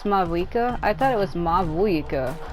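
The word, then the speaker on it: Mavuika: Like, I was separating the M-A from the V-U-I, so it's like Mawika, and I guess that's not how you say it.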